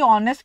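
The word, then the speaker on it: honest: एंड ऑनेस्ट होता है क्योंकि ऑनेस्ट की प्रेगनेंसी में एक्स साइलेंट होता है तो इसका मतलब ये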